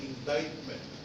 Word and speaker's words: indictment: against the accused Court what they call an indictment with a silent letter C before the they look